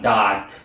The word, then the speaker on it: Da'ath: now this video is going to be on dot the kabbalistic seed of dark that's how dark is pronounced and it's spelled D double a t